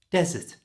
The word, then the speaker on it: desert: of the word dessert and for the Big Sandy Place put the stress at the beginning desert you don't want to